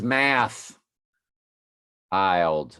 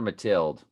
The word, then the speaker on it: Mathilde: Her name is Math Ild. It's Math Ild. Quit calling her Mathilde. Gonna come on at the end. Y'all aren't pronouncing the H.